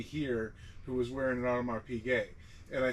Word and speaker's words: Audemars Piguet: I was going to say, I always call it Audemars Peugeot. How do you actually pronounce it? And so if the actual pronunciation is Audemars Piguet or Puiguet. Does he say it that way? No, I call it know. Audemars Piguet. That's like the American, like Porsche.